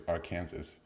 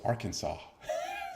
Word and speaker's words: Arkansas: with somebody just like no clearly it's Aransas and she like no it's Arkansas just like what where's the saw you know man that's